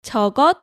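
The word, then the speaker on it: 저것: i say that thing it you can say togo or togo or togo so we talked about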